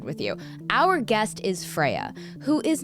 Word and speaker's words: Freya: Freya, am I pronouncing Freya, that? yeah. Amazing. Is it Freya like after the Norse god?